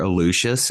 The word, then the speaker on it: Aluxes: you just search for alucius it's spelled a-l-u-x-e-s uh we use the Spanish pronunciation for the word um uh on Instagram